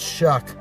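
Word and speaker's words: Shough: I found out how to say his name. It's Shuck.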